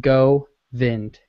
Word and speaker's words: Govind: by the way the first part of my name is pronounced go vind Oh Govind instead of and go VIN sweet thank you uh